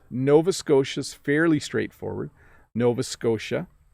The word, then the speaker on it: Nova Scotia: a lab somewhere natalia hello bob could you pronounce the following names of the provinces of canada nova scotia new brunswick manitoba saskatchewan thanks so these are the provinces that are a little tricky to pronounce nova scotia is fairly straightforward nova scotia but the t